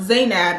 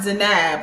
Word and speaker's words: Zainab: not pronounced her name I really think her name is pronounced zainab and not zanab like they were saying but that's besides the